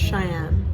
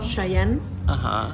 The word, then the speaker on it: Chaiyenne: Yeah, so And- you pronounce it differently in every language. Yeah. It's really funny. So in English it's just Cheyenne. Yeah, and in Dutch it's Chayenne, and in Spanish it's Chayenne.